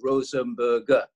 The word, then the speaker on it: Rosenberger: So Krauss was a very cheap surname, whereas my mother's family were very proud because they were called the Rosenberger. Three syllables.